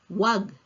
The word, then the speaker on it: Huwag: ang bahala don't is huag it is also common to hear Filipinos to say simply wag dropping the first syllable who so instead of saying Hwag we can say wag and you give a